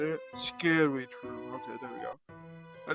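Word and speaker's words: Scaredy-shroom: Now we got the Squandry Shroom, is that how you say it? Scary Shroom, okay, there we go.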